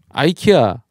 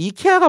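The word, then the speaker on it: IKEA: 아이키아 한국에서 이케아라고 하고요. 사실 이케아가 맞는 단어니까 이케아로 갔을 거예요. 근데 미국에서 그냥 미국에서 자기들이 아이키아가 편하니까 아키아라고 한 거 같아요. 이케아가 원래 그 나라 발음이겠죠.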